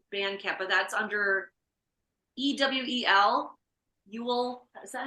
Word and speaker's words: EWEL: Ewell, is that how you say it?